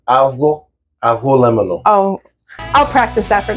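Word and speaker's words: avgolemono: can bowl of a abono lemono yes and technically the g is silent so it's a aono oh I'll practice that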